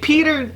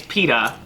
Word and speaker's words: Peeta: is know it if Peters if not Peter it's not Peter its Peeta no me no let